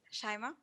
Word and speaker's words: Chaima: but definitely not least chaima and please tell me if i'm mispronouncing your name it's shima shima thank you so much